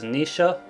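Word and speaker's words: Naoise: to pronounce this name the first is the modern pronunciation which is Nisha or Nisha and then there's the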